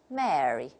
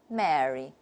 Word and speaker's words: Mary: If we take RP, the British model, and we pronounce the three words very differently. Listen, Merry, the Merry Christmas. And then the second one is a marry. So we can see the difference. And then the third one, if it's a name, a diphthong occurs here, and we say Mary, Mary.